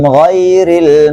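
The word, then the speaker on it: غير: Di sini ada huruf ghain. Ghain ini adalah huruf isti'lam yang tidak dipengaruhi oleh huruf O, karena tidak ada pengaruhnya huruf istilah pada huruf O. Beda pengucapan fathah yang ditebalkan dengan huruf O sebagaimana penjelasan tadi kita jelaskan. Maka di sini huruf ghain bacanya gha, gha, gha, gha.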